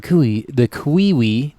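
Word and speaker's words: cui-ui: The kiwi. That's how it says it's pronounced.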